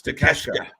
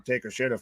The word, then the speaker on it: Takeshita: That's how you're supposed to pronounce it. It's Takeshita. Takeshita. It's not spelled Takeshita at all. Why didn't you It's not anywhere near that.